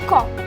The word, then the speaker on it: comb: जैसे कि अगर मैं बोलूँ कॉम्ब, COMB, सही स्पेलिंग क्या है? COMB। तो इसे आप लोग कॉम्ब नहीं बोलेंगे, इसे आप कॉम बोलेंगे, क्योंकि यहाँ पर M